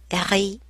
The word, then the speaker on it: rit: The T is silent. Il rit.